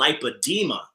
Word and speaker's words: lipedema: that's very similar to that, and it's called lipedema.